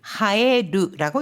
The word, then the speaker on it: 映える: 하에르라고 읽습니다.